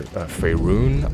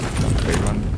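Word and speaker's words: Faerûn: Rather, Faerun, I believe was the pronunciation. Not Faerun.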